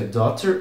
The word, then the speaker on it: daughter: Escreve D-A-U-G-H-T-E-R. Se pronuncia daughter ou daughter, se pronuncia daughter ou daughter e significa filha.